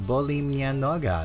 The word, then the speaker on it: boli mnie noga: I think correct pronunciation in Polish is boli mnie noga, if I'm not mistaken.